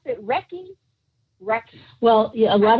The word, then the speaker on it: Reiki: talk about what exactly and how do you pronounce it wrecking wrecking well yeah a lot of people call it ray yeah reiki right reiki right reiki yes what exactly is wrecking right